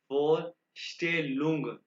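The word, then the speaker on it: Vorstellung: four स्टेलुम ठीक है एस टी जहां भी आएगा की आवाज निकालेगा फोर स्टे लुंग ठीक है इंट्रोडक्शन इंट्रोडक्शन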